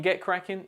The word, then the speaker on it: get cracking: In get cracking, the stress falls on the word cracking, so you should say crackin. Also, the T in get may be pronounced softly, making it sound like get cracking.